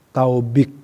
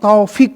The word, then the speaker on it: Taufik: Kalau nama kita dirubah kan gak mau, pasti protes, dipanggil ya tidak Taufik, Taubik, gak mau ya. Nah, Taubik, gak ada nama, panggil gak muncul. Apa ini panggil Taufik ya, bukan Taubik ya, pasti rubah.